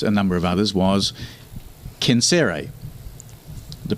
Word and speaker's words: Censere: came up amongst a number of others was cancere the pronunciation would be concera in in latin now i'm not a latin scholar so i naturally pronounce it sincere right and is that kind of like a